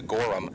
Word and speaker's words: Gorham: Now, we've been given the pronunciation that the H is emphasized, but then on the sheet that we were given, it was just given to us phonetically as Gorham. So we're going to go with what we were actually told, which is Gorham.